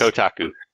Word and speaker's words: Kotaku: The next item there was an interview with, how do you pronounce that, Kage? Kataku? Kotaku? Kuka? Katana. Kotaku. Wait, Yes. Kotaku.